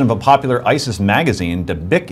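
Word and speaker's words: Dabiq: In the latest edition of a popular ISIS magazine, Dabik it is pronounced, a spokesman said, and I quote, Islam is religion of the sword.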